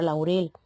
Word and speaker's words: laurel: ejemplo de la palabra Laurel la sílaba tónica en Laurel no cae ni en la a ni en la u sino en la última parte de la palabra por lo tanto es